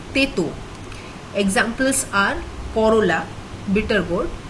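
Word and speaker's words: তেঁতো: taste bitter is again the n is in brackets so not a full n it's pronounced as teto examples are corolla bitter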